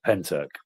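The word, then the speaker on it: Pentyrch: That's what I That's how it's pronounced, mate. Penyrch.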